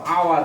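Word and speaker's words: hour: ও অন্ত্যস্ত একার র, আওয়ার। খেয়াল করো এইচ এর উচ্চারণ আ হচ্ছে, এইচ এর উচ্চারণ আ হচ্ছে, এন আওয়ার।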